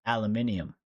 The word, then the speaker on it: aluminium: it I was like I had no clue that they pronounced aluminum aluminium I was dying laughing